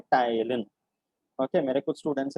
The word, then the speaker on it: ptyalin: The saliva contains an enzyme called salivary amylase, जिसका दूसरा नाम है, how do you pronounce this? Ptyalin. P silent है. It is simply called ptyalin. Ptyalin. Okay. P silent है ptyalin. अब English में ऐसे कुछ